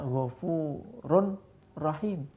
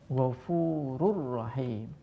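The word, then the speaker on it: غَفُورٌ رَحِيمٌ: Contoh lain adalah Ghafurur Rahim. Tidak boleh dibaca Ghafurun Rahim, tapi dibaca Ghafurur Rahim. Roknya seakan-akan bertasdid, dhammah tanwinnya hilang. Jadi Ghafurur Rahim.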